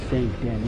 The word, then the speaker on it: Saint Denis: way to pink dennis what saint denis is as it's technically supposed to be pronounced but i'm not gonna